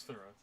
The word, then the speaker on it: Thrawn: The Game of Thrawn, actually. Is that how you pronounce it? No, he's Thrawn.